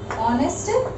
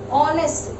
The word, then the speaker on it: honest: Okay, suppose if we come here, Rakesh, okay, is honest boy. Honest, its pronunciation, even though it is with H, but its pronunciation is with O.